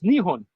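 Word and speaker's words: 日本: it Japan right but they say Japan in Japanese it's nion yeah why just call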